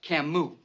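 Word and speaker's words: Camus: cus The Stranger yeah he's French and it's pronounced Camu ma' must be an intellectual we're in trouble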